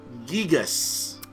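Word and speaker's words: Giygas: oh oh it's uh reportedly the localization team pronounced the that that name as gigas ah gigas okay kind of like kind of like guy good guy a guy all right here we go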